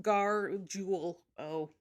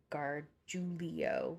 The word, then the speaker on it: Gargiulio: it could yeah yeah i just gar jewel oh that's kind of how i like julo oh i was adding an extra e i was saying guard giulio that's it but wait